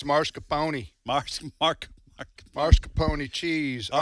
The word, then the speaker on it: mascarpone: I don't have to say pronunciation. Mascarpone anymore incorrectly. But it's mascarpone.